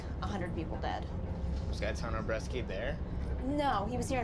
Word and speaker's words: Gaetano Bresci: It's Gaetano Bresci.